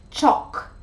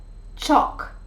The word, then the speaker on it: chalk: starts at half past seven and number eight chalk chalk teachers don't use chalk anymore so that's that